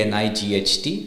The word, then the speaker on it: night: w no and the same thing with night K N I G HT so K is silent it's n g HT night just like night okay now the letter